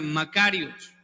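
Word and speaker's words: μακάριος: podemos definir esa dicha la palabra en el original es una palabra que se pronuncia makarios entre paréntesis cuando era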